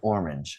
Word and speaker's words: orange: And it it is we can say orange. But a native English speaker like me, listen. Orange. Orange. Orange. Orange. Yeah, you can say it a little bit um like one syllable.